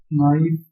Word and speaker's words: knife: This knife is from Germany and that spoon is from England. ये के silent रहेगा.